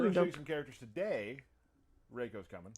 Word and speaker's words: Reiko: Reiko's coming. Reiko.